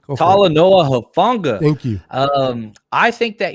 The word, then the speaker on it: Talanoa Hufanga: What kind of impact do you think Tanala, I can't pronounce his name. Talanoa Hufanga.